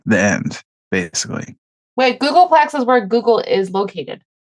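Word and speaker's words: googolplex: is the largest number the biggest number so Google PEX is the biggest number wait wait how did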